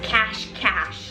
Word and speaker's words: Cache Cache: It's cache cache. Y'all told me that it's actually pronounced cash cash.